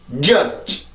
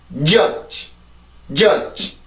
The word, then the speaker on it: judge: 발음해 봅니다. judge. 다시 한번. judge. 한 번 더. judge.